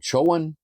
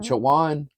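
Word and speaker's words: Chowan: So, the we're the uh the Choan, is it Chawan? Chawan River. Chawan River. Um I'm having a really hard time pronouncing that because I keep wanting to say Choan.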